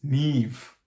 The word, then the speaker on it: Niamh: it was oh you know but apparently it's neve you know like i said so um h